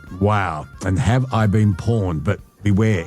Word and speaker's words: Pwned: And have I been pawned? But beware, it's spelled PWNED.